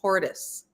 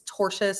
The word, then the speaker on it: tortious: she keeps saying tortious incorrectly she keeps saying tortoise it's tortious words how many mispronounce well and this is a word indeed